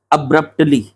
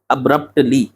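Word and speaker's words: abruptly: Option D में ये जो वर्ड लिखा है ना अब्रप्टली, अब्रप्टली, ठीक है, ये है इसका सही pronunciation, अब्रप्टली without changing its magnitude.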